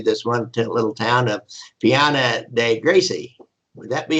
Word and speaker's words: Piana dei Greci: one little town of Piana dei Greci. Would that be how you pronounce that? G-R-E-C? Piana dei Greci. It'd be Greci, like okay. CH.